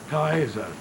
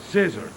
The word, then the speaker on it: Caesar: exactly the WR Lettin say kaer not scissor or chesar as we say when uh I have studied Legend and that's why uh I met for years a lot of incredible RS just pronouncing Cher the right pronouncing is a ker in fact in a